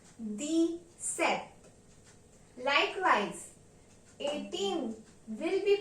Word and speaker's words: dix-sept: Number 17 will be pronounced in French as dix-sept. Dix-sept. Pay attention here. D means 10 and set means 7. So therefore 17 is pronounced as deez-sept.